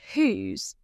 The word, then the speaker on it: whose: A common challenge with whose is its pronunciation. Remember that it rhymes with choose rather than house.